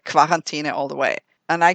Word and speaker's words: Quarantäne: Another dispute that has come to the forefront is the correct pronunciation of the German word for quarantine. Is it Quarantäne or Quarantäne?